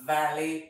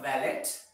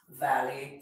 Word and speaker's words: valet: service that most monster line which is for valet parking it's not valid you don't pronounce the word T it's silent it has valet parking alright sometimes we go with our children